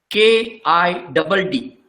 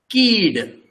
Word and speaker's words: Kidd: When there is only one vowel, in Konkani, the pronunciation is rather long. It is not kid, it is keed.